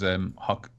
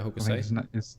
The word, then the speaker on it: Hokusai: So it was, the artist was Hokusai. Yeah, Hokusai.